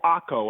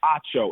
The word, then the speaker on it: Acho: say you're really friends when people say emmanuel akko i'm like acho no emmanuel ocho no no it's ocho if you can't pronounce